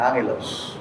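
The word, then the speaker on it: ἄγγελος: Sa lenguay po ng mga Griego pagka nagsusunod dalawang G pino-pronounce po yan ng kanya angelos. Tingnan niyo itong pangalan nila.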